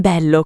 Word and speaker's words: bello: Bello. Bello. Con la e chiusa doppia. Bello. Non bello come in inglese, ma con la e chiusa.